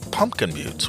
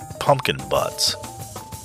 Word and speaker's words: Pumpkin Buttes: The nearest town, Pumpkin Butte, was 32 miles distant and named Pumpkin Buttes, which meant that hardly anyone did business there on account of mispronouncing the town's name, because it looked like pumpkin butts.